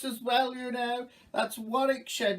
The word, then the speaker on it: Warwickshire: god not what oh god the people in warwickshire you can go you can go oh god